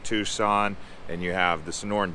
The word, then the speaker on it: Tucson: of it after time but it's tucson not tuxen all right so there's